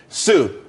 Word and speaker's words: Tsu: there's more money and everyone could be happy Sue TSU it's pronounced Su though that's that's a website.